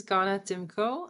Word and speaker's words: Ganna Tymko: you my new guest ghana thimko is that is that the right pronunciation of your name yeah this is perfectly good my name is ghana timko i'm a ceo and